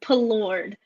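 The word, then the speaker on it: Palourde: Lake Pelord. Lake Pelord. Okay. It doesn't look like Pelord when I look at it, but anyways, yeah.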